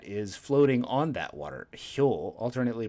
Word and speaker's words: 漂: You should remember hyo because that's the same way we pronounce the right side of this kanji.